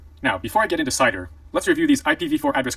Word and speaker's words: CIDR: couple things first is cidr pronounced cider which stands for classless